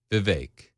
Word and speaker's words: Vivek: Vivek. It rhymes with cake.